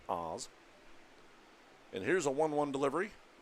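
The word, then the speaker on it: Aas: Oz is spelled A-A-S, pronounced Oz.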